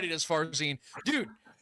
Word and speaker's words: Farzin: Farzine.